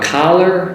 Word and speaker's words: collar: Now the words are, the vowel sound is a little bit off, different I should say.